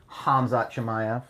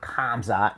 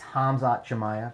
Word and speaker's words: Hamzat Chimaev: Hamzat Chimaev. That's how you say it. It's Hamzat, not Kamzat, not Kumshot. It's Hamzat Chimaev.